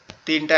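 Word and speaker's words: ت: আবার এই নৌকার মতো দেখতে এর উপরে যদি আমরা দুইটা নোক্তা দেই, এমন যদি দুইটা নোক্তা দেই তাহলে তখন এটা হবে তা।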